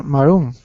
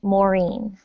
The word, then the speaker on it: Maureen: you there hi ma maroon it's um my name is pronounced maureen hi maureen very good